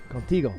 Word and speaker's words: Contigo: do you say that Spanish it's called Contigo with you Contigo that's what it means